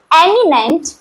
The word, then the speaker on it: eminent: वाली हूँ, इट इज एमिनेंट एंड इमिनेंट। Okay, यहाँ पर डिफरेंस है ई का और आई का। ओके, प्रोनाउंसिएशन है एमिनेंट एंड इमिनेंट।